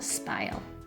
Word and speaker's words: spile: we'll need a spout it's called a spile that rhymes with smile we'll need a blue